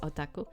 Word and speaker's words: otaku: I know you say it in another way, which is otaku. I think I think you say just otaku. It's not. It's okay. You need to put emphasis on the first O.